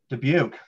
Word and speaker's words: Dubuque: How do you pronounce Dubuque. That? Dubuque, should know that.